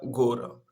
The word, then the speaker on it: гора: И мы читаем буквы О, как А, когда это не ударение.